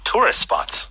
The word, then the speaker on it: tourist spots: 그래서 빨리 이어 발음하게 되면 tourist spots. Tourist spots. Tourist spots. Tourist spots. 해서 뒤에 tourist의 T가 거의 발음이 되지 않습니다.